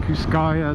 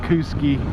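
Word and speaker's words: Kooskia: Kuski. Those Idahoans pronounce things funny out there. I call it Kuskaya, they call it Kuski.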